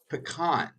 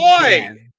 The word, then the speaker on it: pecan: the proper pronunciation of that pie, which is pecan, not Good boy. pecan.